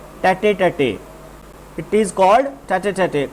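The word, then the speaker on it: tête-à-tête: Okay, come to the question number 9 that is एक छोटा सा इडियम है स्टूडेंट्स, इट्स प्रोनाउंसिएशन इज टैटे टैटे।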